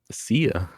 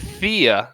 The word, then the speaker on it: Sia: How do you say that? Sia. Sia. I thought you said Thea, like TH. No. Sia.